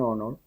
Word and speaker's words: honor: La segunda, un honor, es an honor, ¿sí ven? Empieza con H, que es una consonante, pero se pronuncia una O, no se pronuncia la H, nada por el estilo, porque es muda.